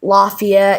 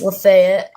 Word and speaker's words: Lafayette: And some people say like Lafayette, it's Lefaya.